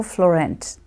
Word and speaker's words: Fleurant: name and today my guest is sister Rachel Florent I'm not sure if I'm pronouncing your name properly but no you're doing